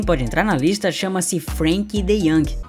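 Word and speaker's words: Frenkie de Jong: entrar na lista chama-se Frank dey ou Frank de Jong como você quiser chamar vamos chamar de Frank dey mesmo tá que é a pronúncia holandesa o dey tem a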